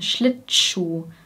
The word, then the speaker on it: Schlittschuh: Wir trennen die Silben Schlittschuhlaufen nicht so extrem, sondern wir verbinden die ersten beiden Silben. Schlittschuh, sodass es wie Tschuh klingt.